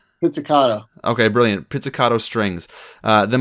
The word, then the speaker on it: pizzicato: Oh, I feel really bad because I'm not really big on pronouncing music terms. Pizzicato? Pizzicato.